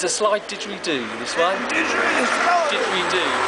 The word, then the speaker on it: didgeridoo: It's a slide didgeridoo, this one. Didgeridoo. Spell it.